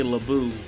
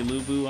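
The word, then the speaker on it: Lü Bu: and uh and if you didn't know how to say lubu you just say labu oh god it's labour but it's supposed to be lubu i don't know i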